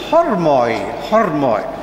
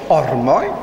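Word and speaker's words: ὅρμοι: Namely, that Ormi comes from Greek pronunciation, Erasmian please. It's hormos, or rather plural, hormoi. The Byzantine Greeks lost the aspirant, the hard aspirant, so it becomes therefore ormoi.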